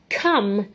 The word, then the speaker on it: come: what some looked like it rhymes with so it looks quite similar some and then now come can you point to come here is come it says three letters together making an um sound again but those i've